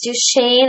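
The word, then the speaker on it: Duchenne: problems so another is Duchesne I think is how you say that muscular dystrophy it's a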